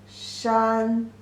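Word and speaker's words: 山: dog second and third the pronunciation is shun first tone she and shun this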